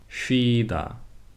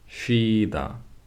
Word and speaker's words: 쉬다: Whereas in words like shower, shower, 시술, 시술, 쉬다, 쉬다, 시옷 is no longer s sound but sh.